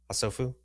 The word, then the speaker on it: HaSofu: HaSofu.